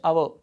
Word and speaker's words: hour: Next example, I will meet you in dash hour. So this word, this word has one silent letter. H is here silent letter.